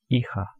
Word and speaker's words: hija: H is silent, hijo. And for daughter we just have to add A at the ending, hija.